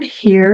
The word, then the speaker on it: here: O H tem o som do nosso R forte, né? Here. E o R deles vai enrolar bastante. Então, here. Born here.